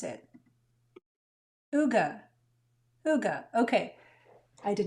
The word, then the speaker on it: hygge: I just don't want to mispronounce it. Hygge. Hygge. Okay. I did not know that, so I was pronouncing it wrong. I should know how to pronounce the word that I'm about to stamp. Hygge is a quality of coziness and comfortable conviviality